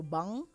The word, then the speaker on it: bang: also sounds very different so ng is um like i said you don't really finish it in your throat so it's um and nk is ink so bang and bank bang and bank bang